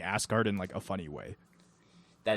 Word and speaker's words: Asgard: What do you think of Jeff Goldblum calling it Asgard? See, I don't like it. I like how he pronounced it. Just the way he said it was funny. I think just if you don't read the subtitles where they literally put out ASS-guard, Yeah.